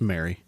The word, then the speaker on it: Marie: called St Marie okay that one we know how to pronounce um it's Mary to fund themselves Ro